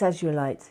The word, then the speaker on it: azurite: And azurite. Both of them are very high vibrational crystals, and the apophyllite and azurite. It's azurite. It's how you say it.